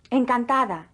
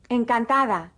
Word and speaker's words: Encantada: went in between vowels is pronounced like the th in the English word the listen and repeat Encantada Encantada now say Encantada if you have been